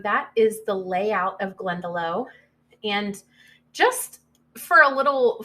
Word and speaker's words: Glendalough: is the layout of glendalough and just for a little fun piece of information it they actually brought the name from an irish background so some people will actually call it glendalock i believe that is